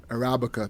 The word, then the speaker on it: Arabica: How do you pronounce the Kenyan coffee? Is it Arabica, whatever coffee? Arabica. Arabica.